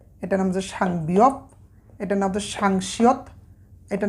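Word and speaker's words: 쌍비읍: এই যে দেখুন, এই দুইটা বিয়প যখন পাশাপাশি লেখা হবে তখন এটার উচ্চারণ করব আমরা একইভাবে সাং বিয়প, সাং বিয়প।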